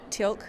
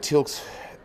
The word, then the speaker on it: Teal'c: Teal'c? Okay. Am I saying it wrong? Teal'c.